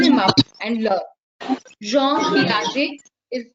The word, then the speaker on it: Piaget: Jean Piaget. I'm going to type the spelling so that you can eventually, Google him up and learn. Jean Piaget is how we pronounce it.